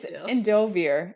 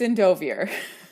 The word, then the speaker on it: Endovier: audio books though but it is endovier it's endovier I know it's endovier but it's spelled I eer at the end I automatically think Endo I can't help it it's the way the French mind works it I can't turn it off that's fair anyway yes